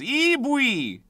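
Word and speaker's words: イーブイ: Eebui! That's how you say it in Japanese. Eebui!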